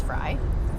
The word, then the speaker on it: Fries: That sounds like, that could be us, because I'm a Fries fry. You pronounce fry.